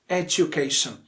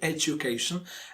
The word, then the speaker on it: education: Education. Yes, this one is the most common pronunciation, education. And this word is also pronounced education.